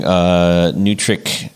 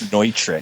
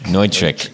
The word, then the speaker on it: Neutric: So you mentioned on the site that you're using Nutric Connect. Is that how you say it? That's the way I really want to say it, but I think the proper pronunciation is Neutric. Neutric.